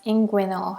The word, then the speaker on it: inguinal: He has had a It's actually spelled this way and pronounced inguinal hernia.